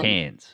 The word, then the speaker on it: Cairns: Yeah, but no R. Don't pronounce it R. So it's Cairns.